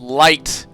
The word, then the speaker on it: Light: They somehow spelled the word light in kanji. That's pretty insane. Yeah. It is pronounced as the English word light.